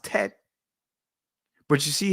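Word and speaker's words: ט: The Tat. In the Israeli, it's pronounced Tet.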